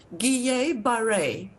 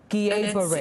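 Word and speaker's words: Guillain-Barré: It's Guillain-Barre. Guillain-Barre. It's two French words, and it's quite difficult to say, and we will just call it GBS.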